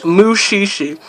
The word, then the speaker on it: Mushishi: Watch Mushishi. That's spelled M. I'll probably leave a description of some of these names actually in the description. But it's M-U-S-H-I-S-H-I.